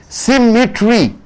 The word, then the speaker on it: symmetry: Symmetry, 3 syllable. You are stressing on the first syllable.